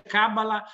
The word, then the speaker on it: cabala: specifico si chiama cabala da pronunciare proprio così con l'accento sulla finale perché si dice kamala si pensa al gioco